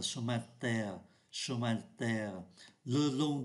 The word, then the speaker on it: chemin de terre: con đường bằng đất, và người ta cũng không phát âm mạnh cái từ ô này, người ta đọc là chemin de terre, chemin de terre.